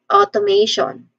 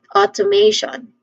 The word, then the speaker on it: automation: Pronunciation wise, let me start with O sound, short O sound, and then followed by to, to, with a schwa sound. Then another next is with a diphthong sound A, so may.